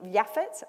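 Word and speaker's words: Japheth: the left there you've got yaffe i think yaffet sometimes he gets pronounced and you can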